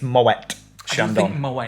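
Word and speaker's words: Moët & Chandon: it includes well done that's how you say it apparently it didn't say my way like everybody says and it's moet shandong and i'm sure we've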